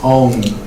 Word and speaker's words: Om: Como decía, Aum, pero no es Aum, sino Om.